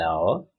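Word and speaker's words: hour: note of this point the words our honest air begins with a vowel sound as the initial consonant heads is not pronounced it is silent there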